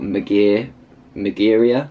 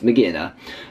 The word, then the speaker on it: Magearna: It's Magearna, I think it's pronounced, or Magearia? No, it's Magearna, who was released in a Japanese comic a couple months ago now, I think, actually.